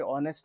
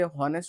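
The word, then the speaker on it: honest: हुआ है, जो कि ऑनेस्ट है। अब ऑनेस्ट है, तो ये एच यहाँ पे साइलेंट हो जाता है, ठीक है। इसको बहुत बच्चे हॉनेस्ट हॉनेस्ट पढ़ते, जो कि गलत है।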